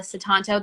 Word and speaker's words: Sutanto: am so excited to introduce viola citanto that is how you say your name correct viola correct amazing okay